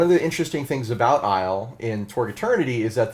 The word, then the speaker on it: Aysle: mile and one of the interesting things about Isle in toward eternity is that the invaders this